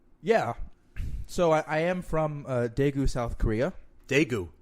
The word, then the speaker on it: Daegu: So I am from Daegu, South Korea. Daegu. Also pronounced Taegu. You can spell it with a D or a T.